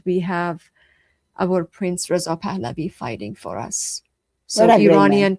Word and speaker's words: Pahlavi: Remind me how to pronounce Reza Reza Reza Pahlavi. Pahlavi.